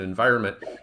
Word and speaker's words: environment: And the final stress syllable in environment is that vi syllable.